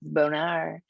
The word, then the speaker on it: Bonar: my name is Bonar it's very important that you pronounce my last name correctly uh it's not French although if you say it like it's French it sounds fancier it's Bonar um I um have